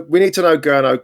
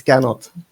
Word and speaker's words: Gernot: We need to know, Gurno. Come on, Gurno, let's hear it. We need to know how to say your name. Hi, Mick. It's Gernot. Gernot.